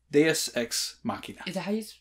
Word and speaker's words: Deus Ex Machina: season one episode 19 deus ex machina is how you say it deus my bad i'm saying it wrong this whole time which is